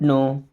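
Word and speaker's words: know: नो, अब इस word में दोस्तों के और डब्ल्यू साइलेंट है, काफ़ी बार कन्फ्यूजन हो जाता है इससे, नो क्यों पढ़ते हैं।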